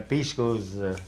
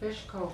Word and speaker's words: pishko: say was, when the pishkos come back, why then it's time you can butcher. So you pronounce it fishko, huh? Pishko, pishko, pishko, pishko.